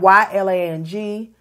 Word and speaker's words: ylang: It's spelled Y-L-A-N-G, and it's twice.